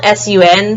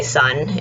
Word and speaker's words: Sun: It's spelled S-U-N, so some people might say Sun. It's kind of close, but the way you really say it is Zifeng Sun.